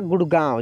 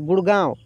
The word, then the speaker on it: गुड़गांव: देखिए गुड़गांव लिखा है, जब यहाँ पे बिंदी या ऐसे देंगे तब ये होगा गुड़गांव, जिसको हम लोग चंद्र बिंदु बोलते हैं। तो इससे क्या होता है कि ये नाक से इसका उच्चारण होता है, ठीक है।